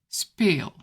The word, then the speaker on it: speel: If you see a double vowel, it's a long sound.